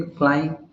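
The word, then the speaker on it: climb: य भी यहां है बी साइलेंट इन क्लाइम क्लाइम में हम लोग क्लाइम बोल देते हैं कॉम में कॉम ब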